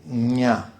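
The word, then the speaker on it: ज्ञ: Why gya, by the way, is actually odd in Sanskrit to the, somebody who reads and speaks English, because it's spelled J, N with a squiggle over it, and an A, and that's like nya. Like nya, nya, nya, nya, nya. You have to say nya.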